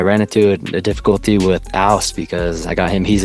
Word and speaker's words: whst: Yeah, whst. It's like house without the H.